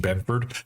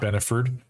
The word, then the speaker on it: Benford: correct in the pronunciation Christian Benford not benord I I'd like to